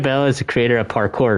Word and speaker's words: parkour: supposed to pronounce it parkour It's almost sounds sounds like you're saying the word Parker or the name Parker, but it's Park Parker. Parker, that's how you say it. It's the French way.